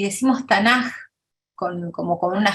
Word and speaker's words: Tanaj: que tuvin y decimos tanaj con como con una J al final pronunciando es acá como una J porque la k final en hebreo se pronuncia como J si entonces la adicción